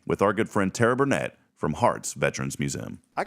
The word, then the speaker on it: Burnett: our good friend Tara Burnett from Hearts Veterans Museum I gotta welcome in now miss Tara Burnett am I saying that right is it burn it or Burnett it's Burnett I thought it was